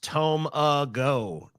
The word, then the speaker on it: tamago: It's pronounced Tomago.